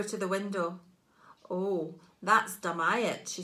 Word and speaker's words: Dumyat: Since then, it's become slurred into Dumyat, pronounced Dum-I-At.